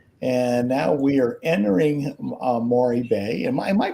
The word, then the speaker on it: Maroe: And now we are entering Maury Bay. Am I pronouncing that correct, Melanie? Maury? Maore. Maroe. Maroe. Mahore.